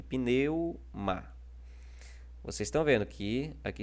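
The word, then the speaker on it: πνεῦμα: No pneuma também. Ó. Pneuma também está na penúltima sílaba.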